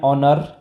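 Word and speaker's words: honour: इट वॉज एन ऑनर, देखिए ऑनर है, H silent है, ठीक है।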